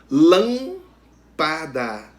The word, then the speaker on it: lâmpada: Exemplos: lâmpada é a antepenúltima sílaba, né, a sílaba tônica.